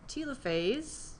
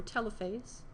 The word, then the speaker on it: telophase: Then we have telophase, or telophase, two ways to pronounce it.